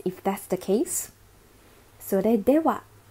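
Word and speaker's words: では: Sore dewa, be careful this is not ha, but sore dewa is well then. The ha here is used as a particle, that's why the pronunciation is wa.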